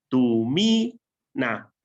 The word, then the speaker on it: tumina: ¿Dónde cae el acento, Diana? En na. Segunda sílaba, ¿no? Ah, no, tú estás diciendo la tercera, ¿verdad? No, es la segunda. Es tumina. Cae un poquito a la tercera.